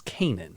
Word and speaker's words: Canaan: They're going to the promised land, which is Canaan. Canaan. Yes, so they don't know where Canaan is. Or Canaan.